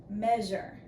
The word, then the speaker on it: measure: all right measure okay now in this first syllable m m e what is making that sound e well you want to think it's going to be the short sound for this letter e right a e but it's not it is actually EA in that first syllable don't fly away measure it's actually EA okay and EA is